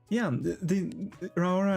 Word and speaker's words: Raora: The Raora as Raora, right? Because she uses the hard R's. She rolls her R's.